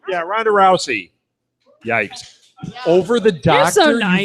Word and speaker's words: Ronda Rousey: is that how you say her name yeah Ronda Rousey yikes over the doctor you voted for Ronda